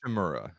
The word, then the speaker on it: Shimura: His name is Shimura? Is that right? Am I pronouncing that right? Shimura. You got it.